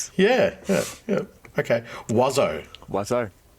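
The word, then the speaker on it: oiseau: W A Z O. Wazo. I was pretty close then because I was like very close. Yeah. Yeah. Yeah. Okay. Wo. Wazo.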